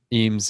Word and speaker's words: Eames: His character is Imes, isn't it? Eames, yeah.